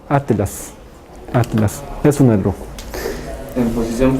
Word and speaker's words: atlas: a ver Atlas atas no se dice atas sino Atlas Atlas es un en